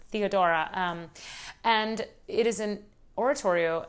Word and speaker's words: Theodora: oratorio in english actually i should say theodora i shouldn't italianate italianize the pronunciation because it's theodora and it is an